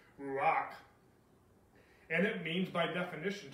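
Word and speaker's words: רוּחַ: Again, I don't know if I'm pronouncing this correctly, but it's ruach.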